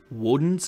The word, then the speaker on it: Odin: It's Woden's Day. So Odin was sometimes pronounced Woden, depending on what culture. Different Germanic systems of pronunciation for Odin.